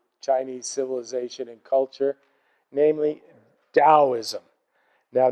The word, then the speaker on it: Daoism: civilization and culture namely Daoism now notice I pronounce it like a d though you'll usually see it spelled with a t but it's pronounced da